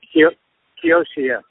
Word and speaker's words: Kiyoshi: Is that how you pronounce her name? Is she playing with you? Yeah, Kiyoshi.